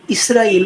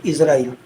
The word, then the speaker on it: اسرائیل: Europeans जो हैं वो इसराइल को प्रोनाउंस करते हैं इजराइल।